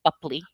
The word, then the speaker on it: Boepple: It was Johnny Depp, you know, razzing B Bupley, before my scene, and that's how you pronounce it, by the way, Bupley.